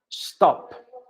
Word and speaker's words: stop: No, en inglés no, porque esa S no suena con E, haciendo una E, no, es desinflando el estómago.